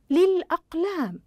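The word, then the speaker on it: للأقلام: وطالباتي اذا نشاهد كلمه للاقلام الاقلام هل اتضحت اللام في النطق الاقلام احسنتم اذا اتضحت لدينا في النطق اذا تصبح احلام قمريه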